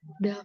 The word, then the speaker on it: 닭: duck. Oke, Oke, kalau misal ada huruf seperti ini, ada di bawahnya ada dua konsonan, itu biasanya umumnya ya, tidak semua situasi, tapi umumnya yang L ini gak dibaca.